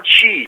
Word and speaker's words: Qi: These are all chi problems. So chi, all right, is spelled as QI and pronounced as CHI, which equate to biblical terms found in the book of Genesis called the breath of life.